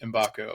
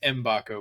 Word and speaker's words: Mbako: the latest on Mackenzie embako and we've we've clarified his last name is pronounced mbaco we kind of butchered that the last pod but we won't do